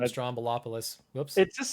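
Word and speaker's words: Stroumboulopoulos: it oh really yeah or george stromball apollos i think is the correct pronunciation oh i always call him strombolopolis whoops it just sounds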